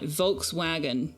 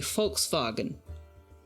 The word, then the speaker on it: Volkswagen: But like Volkswagen is actually Volkswagen cuz it's an F and a V, not a V and a W.